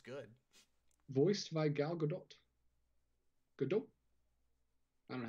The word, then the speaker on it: Gadot: Gadot? I don't know how you say it. Yeah, you don't pronounce the T. Gadot.